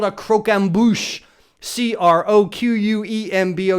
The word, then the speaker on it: croquembouche: together with caramelized sugar and it's called a croquembouche cro quem bo u CH e extra points